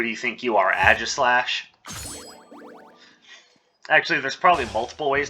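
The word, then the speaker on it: Aegislash: What do you think you are, Agislash? Actually, there's probably multiple ways to pronounce that. I always pronounce the A-E like aw as an author, but a lot of people pronounce it A, so...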